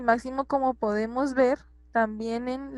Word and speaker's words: máximo: Y máximo también es una palabra esdrújula. Tiene su acento en la antepenúltima sílaba.